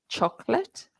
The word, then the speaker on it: chocolate: speaker is somebody who can say chocolate with two syllables and crisps and vegetables